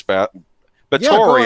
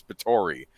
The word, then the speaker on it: Bathory: Should we explain to the chat who Countess Bathory, actually, I'm saying it wrong. I always pronounce it Bathory. It's Bathory.